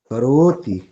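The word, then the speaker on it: करोति: जाता है- ' करोती'— उच्चारण लगभग ऐसा ही होता है। करोती। आपको 'रो' कहा जाता है। इसे और लंबा करने की जरूरत है . ' कदापि नहीं। इसे लंबा मत करो।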